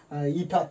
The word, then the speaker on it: eta: Okay, so it is pronounced as eta.